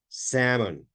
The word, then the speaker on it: salmon: Salmon, remember the pronunciation of this word, salmon, okay, is number 13.